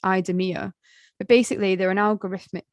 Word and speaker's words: IDEMIA: from a French company called, I think it's pronounced IDEMIA, but basically they're an algorithmic model that scans people's faces.